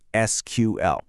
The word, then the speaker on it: SQL: You might hear some people call it SQL, but the official preferred pronunciation is just to say the letters SQL.